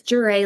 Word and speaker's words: Jeré: It's Jere like hurray with a J. That's how you say it.